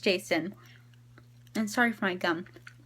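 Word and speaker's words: Jacin: book by the way I was calling Jason jackin because of how it was spelled J a cin but it's pronounced jason and sorry for my gum I'm just chewing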